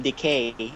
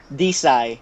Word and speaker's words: Decy: But I like how you said you called him Decay, and he's not replenishing because it's kind of like he's decaying. You actually say his name, Decy.